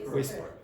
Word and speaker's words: whisper: Sorry there is a silent letter H. But in some dialects they might say whisper. But in most dialects the H is silent.